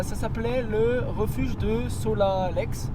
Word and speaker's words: Solalex: s'appelait le refuge de Solalex Solal ouais Solal ça c'est bien franchement on prononce pas les X en su un peu